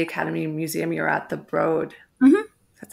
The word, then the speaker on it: Broad: previous to the academy Museum you're at the broad that's how you pronounce it right yeah okay I always was